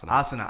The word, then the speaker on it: asana: it NASA how do you say it well asana asana yeah yeah you're you're correct in that